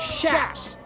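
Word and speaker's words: chaps: Your very own pair of leather shaps. That's right, I said shaps because that's how you say it, you desert wanderers.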